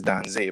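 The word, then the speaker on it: Danze: music in general so this rhythm yes you pronounce it right that's a rhythm it's actually spelled d-a-n-z-e which is dan say but um in terms of just colloquial spelling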